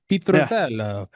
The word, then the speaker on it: Pitruzzello: Pitruzzello.